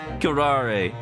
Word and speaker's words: curare: Curare. That's how you pronounce it.